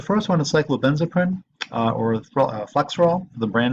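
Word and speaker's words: Flexeril: may just call it flexural sometimes this mispronounced flex for all but it's spelled flexural mechanistically it has a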